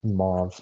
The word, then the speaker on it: mauve: mve or mauve I don't know how to pronounce that color but it's mauve every time I say just purple I get